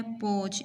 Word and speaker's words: podge: And last word जो हमने इससे बनाया है वो है पोच। इसमें डी साइलेंट है, ओके, PODGE।